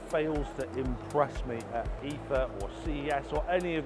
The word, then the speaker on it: IFA: But the only problem is, I've been saying IFA all wrong. It's not called IFA, it's called IFA.